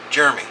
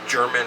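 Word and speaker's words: Jermyn: the Tor Rob Bond Street I called it Jeremy it looks like it's Jeremy Gary over Gary shave said no it's pronounced German or gam German like German I'm like how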